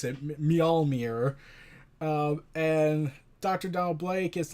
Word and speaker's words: Mjolnir: I finally managed to pronounce it, Mjolnir.